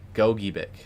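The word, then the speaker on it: Gogebic: Okay, goick.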